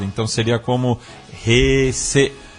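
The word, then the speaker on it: 平成: que estamos é a Heisei, mas ela falou que o E é fechado, então seria como Heisei, e é isso.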